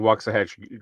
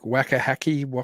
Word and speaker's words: Waxahachie: That is the closest you've ever gotten to pronouncing Waxahachie correctly. Well, what do I normally say? Like Waxahachie, Yeah, it's Waxahachie?